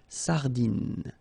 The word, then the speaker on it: sardine: Ok, so, le merlan, la raie, final E, not pronounced, la sardine, you don't insist on the final E, it only gives you the N, N pronunciation, sardine.